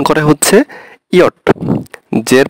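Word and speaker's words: Ja: হয় হচ্ছে ইয়া, ইয়া ইয়া এর স্পেলিংটা হবে হচ্ছে আপনার জে এ, জে এ, তাহলে ইংলিশে ওরা ইংলিশে আমরা বলি জে এ মানে যা, কিন্তু ওরা বলবে ইয়া, ইয়া মানে হচ্ছে ইয়েস।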